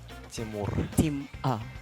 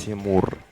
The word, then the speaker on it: Тимур: Did I say it correctly, your name? Timur? Тимур. Okay, wait. Тимур. Timur. Oh, I love the Timur. Okay. You should say it like that also, girls, okay?